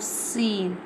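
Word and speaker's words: س: Z z Now I'm telling the pronunciation of scene. Scene pronounced from the tip of the tongue touching the inner eds of the top two and bottom two front teeth like this.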